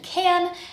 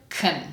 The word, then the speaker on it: can: You're probably expecting to hear the dictionary pronunciation can, and then in real life, unless I am emphasizing that word for a particular reason, most of the time I will reduce the word to can.